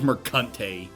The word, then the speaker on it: Mercante: It is Mercante.